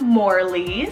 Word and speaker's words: Morley: perfect it means bold voyager then we have morleys well m-o-r-l-e-y morley this one means more or